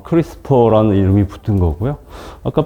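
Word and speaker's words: CRISPR: 보시면 프리 스토어 예 여기 발음은 크리스 퍼 라고 하는데 이 2 알파벳 e 는 없습니다 약어로 구성되어 있기 때문인데 이거 기억하기 시기가 힘든데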